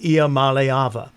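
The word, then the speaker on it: Iamaleava: slightly in error so I'm having to retrain myself on Niko's last name let go Niko malava as opposed to the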